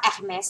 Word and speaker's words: Hermès: อ ก เ สี ย ง ว่ า Hermès น ะ ค ะ Hermès แ ล้ ว